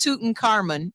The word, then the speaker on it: Tutankhamun: Yes, it's King Tutankhamun, and yes, it's pronounced Tutankhamun.